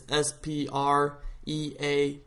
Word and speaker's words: Spreaker: it wrong or you don't know how to spell it, it's Spreaker, and that's the app.